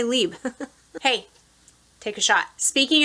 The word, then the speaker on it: Libre: It's not Libra, but it's like Libre with an R-E in a way that I can't pronounce it, so I'm just going to say Libre.